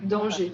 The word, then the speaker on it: danger: Donc, tu sais, danger, on ne prononce pas le R. Hein. Ouais, danger.